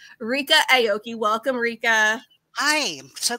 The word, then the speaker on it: Ryka Aoki: lesson in how to say her name correctly, Ryka Aoki.